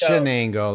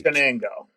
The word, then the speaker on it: Chenango: So it's pronounced Chenango, like it's SH. Chenango.